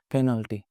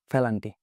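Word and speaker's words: penalty: হঠাৎ করে ধরেন আমি একটা ওয়ার্ড বললাম, পেনাল্টি। হুম। This is the current pronunciation. But that time I said Phalanti.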